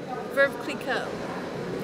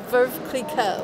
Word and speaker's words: Veuve Clicquot: Veuve Clicquot. What was that? Veuve Clicquot. Could you spell that, please?